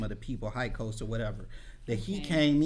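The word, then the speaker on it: Hyksos: And so they think that this king was a foreigner, and I can't pronounce it quite right, but it's Hykos. Yeah, KOS. Yeah, or KOSO, something like that.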